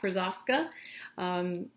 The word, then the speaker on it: Krosoczka: j krasaska the way i learned how to pronounce his name is i watched his ted talk krazaska it's awesome if you are interested you should